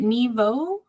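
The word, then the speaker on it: Nghi Vo: by oh Chris how do you say it Neo Okay cool so my my book for January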